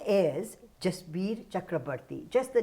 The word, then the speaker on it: Chakraborty: a punjabi name yes it's typical punjabi yes chakrabarti is a typical bengali am i pronouncing it right perfectly okay yes that's a